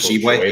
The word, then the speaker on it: Tshiebwe: Schwebe, how do you say his name? Oscar Tshiebwe, yeah, National Player of the Year last year.